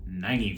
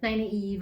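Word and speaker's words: Nynaeve: news my favorite character naive i guess is how you would technically pronounce it the way it's spelled n-y-n-a-e-b-e make sure you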